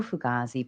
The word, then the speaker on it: fugazi: fug gazes so no fugaz is means authentic see I'm not even saying it right you say no fugazi um a lot of people pronounce it like that too okay so I'm I'm